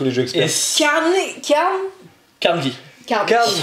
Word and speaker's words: Carnegie: Carnegie. Carnegie. On le prononce à l'écossaise parce que le monsieur a des souches écossaises.